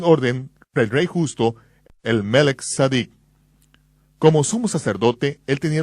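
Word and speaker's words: מלכי צדק: Él estaba actuando como un sacerdote según el orden de Melquisedec, o como se debe pronunciar, de Melech Sadik. Melech, rey, Sadik, justicia.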